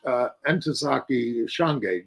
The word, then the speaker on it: Ntozake Shange: He also published Ntozake Shange.